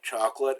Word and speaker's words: chocolat: We say chocolate as chocolat. CH is always SH.